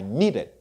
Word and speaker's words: needed: In past tense, you will say I needed. Okay? I needed 2 syllables.